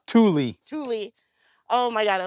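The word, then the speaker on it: Thule: Tool? Tule.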